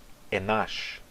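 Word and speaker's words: אנש: A palavra enosh em hebraico será pronunciada enash em aramaico.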